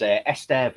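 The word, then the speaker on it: Estève: Um Joe Genie Esester asked you another question and apologies if I pronounced this incorrectly, but he says, "Esteev is quality in my opinion.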